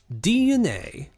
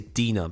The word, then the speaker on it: DNA: July 2nd of 2021 DNA I keep having to remind myself not to say Dena because of the way it's spelled DNA fully acquired Arium ink